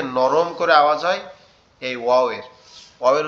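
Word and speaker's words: واو: বলে আবদার করে ঠোট দুইটা ঠিক এরকম ভাবে উচ্চারণ হবে একটু গোল ওয়া ওয়াও ওয়াও ওয়াও ওয়াও ওয়াও ওয়াও বা আমরা হঠাৎ কোন সুন্দর একটা জিনিস দেখলে বলি না ওয়াও কি সুন্দর।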